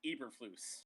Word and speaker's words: Eberflus: I believe it's pronounced Eberflus.